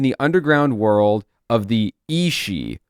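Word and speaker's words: sidhe: underground world of the Isi, which is not spelled that way at all. It's a os space. Si dh e.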